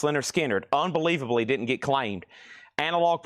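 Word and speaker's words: Lynyrd Skynyrd: Pronounced Leonard Skinnard.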